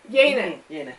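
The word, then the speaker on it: Yeine: How would you pronounce her name? Yane.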